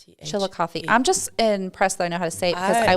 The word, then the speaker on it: Chillicothe: c-h-i-l-l yeah I c o t h e Chillicothe I'm just impressed that I know how to